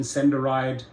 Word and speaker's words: SendaRide: SendaRide, find that name rather strange, doesn't sit well with me, but okay, for those who need non-emergency medical transportation, SendaRide has about 20 drivers in the Austin area